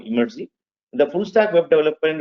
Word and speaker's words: Emertxe: know how to pronounce you should pronounce it as imy because some of you pronounce MRX right the right way to pronounce it imy we are n company